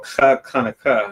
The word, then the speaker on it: Chag Hanukkah: the Feast of Dedication, or Chag Hanukkah, that's how you say it in the Hebrew.